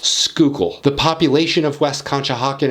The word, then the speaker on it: Schuylkill: the schuylkill river and yes this word is pronounced skookul the population of west conshohocken is 1384 people